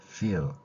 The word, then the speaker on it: feel: 연습 한번 하고 가시죠 인니로 아랫입술을 물고이 소리는 어떻게 되냐면 일이라고 소리를내는 것입니다 우리말에 없는 영어의에 대한 그 기호 표시를 피읍 발에 작은 동그라미를 쳐서 나타내고 있습니다 자이 발음 여러분도 한번 연습해 보세요 필 그러지 말고 윈로 아뉴스 물과 feel 이렇게 소리를 내면 됩니다 자 그러면 문자로 표기된